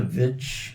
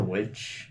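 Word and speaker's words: The VVitch: It's pronounced the Vitch, not the Witch.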